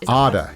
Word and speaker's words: Arda: But for my sake, Arda rhymes with it rhymes with harder.